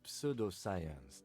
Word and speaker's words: pseudoscience: It's a pseudoscience that attempts to legitimize research into mythological beasts and urban legends. The lieutenant sounds unimpressed. He also pronounces the P in pseudoscience. That's one opinion, yes.